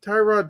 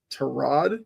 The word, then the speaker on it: Tyrod: Although Baker did kind of tell us that you're supposed to pronounce it Tyrod, not Tyrod.